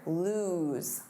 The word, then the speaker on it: lose: Now, the pronunciation here, lose. Lose, that's the opposite of win, of course, or it's unable to find or locate.